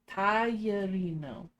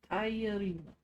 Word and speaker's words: tagliarino: The GLIE part, Ezralis, really is baffling to me. Tagliarino. Tagliarino.